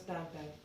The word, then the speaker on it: Tintin: Pauline says, oui, j'aime Harry Potter, les bandes dessinées, Astérix, Tintin, like Tintin will be pronounced as Tintin.